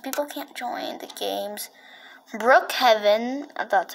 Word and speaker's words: Brookhaven: Brookhaven, that's how you pronounce it, is fine, but the other games are not fine.